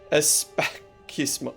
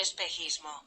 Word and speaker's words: Espejismo: Pronounce the KH like from your throat. That's just the way you pronounce the J. Especismo.